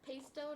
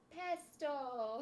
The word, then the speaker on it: pesto: Should we tell her it's pesto, not pesto?